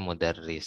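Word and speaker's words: مُدَرِّس: Oh ya, di sini kan Teteh lihat kasrohnya itu di bawah tasdid. Jadi dia baca mudarris. Kecuali kalau di atas ini mudarros bacanya. Nah, ini kan jadi nggak mesti kasroh itu di sini, nggak mesti di sini. Kalau udah di bawah tasdid dia tetap kasroh mudarris.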